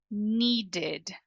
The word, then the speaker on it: needed: needed percebe a diferença i e i e needed waited needed waited então recapitulando call é apagado